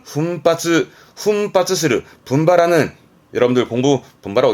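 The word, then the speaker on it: 奮発: 예, 발음은 훈바츠, 훈바츠스르, 분발하는.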